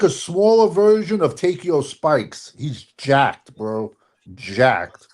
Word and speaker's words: Takeo: What you call him? Takeo? No, it's Takeo. I guess I said it wrong.